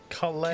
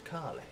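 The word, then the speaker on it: Kalle: name is kale it's kale he says it collee a l l e i thought it was it's k-a-l-l-e and he says his name my name is carly and he parties well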